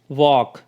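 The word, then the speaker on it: walk: पर देखिए we sorry W ए एल के यहां पे एल जो है वो साइलेंट है प ए एल एम में एल साइलेंट है और सी ए एल एफ में एल जो है वो साइलेंट है और इसको हम किस तरह से रीड आउट कर रहे हैं वॉक पाम काल्व तो इन तीनों वर्ड्स में एल जो है वो साइलेंट है उसकी साउंड नहीं निकल रही है ठीक है इसी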